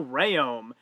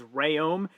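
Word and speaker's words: Rhéaume: opening weight we then move on to gabrielle rayom yes that is how it's pronounced despite the way that the commentator brian hightower was pronouncing it as rayom he could not lock out on 380 pounds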